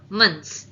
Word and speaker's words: months: அண்ட் நார்மலாவே இது எப்படி ப்ரொனவுன்ஸ் பண்ணா மந்த்ஸ், MUN அந்த மாதிரி ஸ்பெல்லிங்ல வரணும். MONல நம்ம ப்ரொனவுன்ஸ் பண்ணக்கூடாது. இட் இஸ் மந்த்ஸ்.